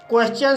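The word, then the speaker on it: question: अगला नियम है, जब एस के बाद टी आई ओ एन हो तब टी का उच्चारण चा होता है, जैसे क्वेश्चन। क्वेश्चन शब्द में एस के बाद टी आई ओ एन आया है इसलिए यहाँ पर टी का उच्चारण चा हुआ है, इसलिए इसे क्वेश्चन पढ़ा जाता है।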